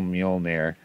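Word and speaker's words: Mjölnir: the words also so midgard is mid garter mjolnir is still mjolnir uh yerman gunder is jorman gunder uh asgard is asgarder um these are just the correct old north norse pronunciation so our book actually begins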